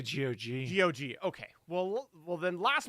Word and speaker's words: GOG: I say GOG. GOG. Okay. Well, then last month, GOG announced a preservation program offering ongoing tech support and compatibility for classic games. If you didn't know, this GOG is a website where you can get games.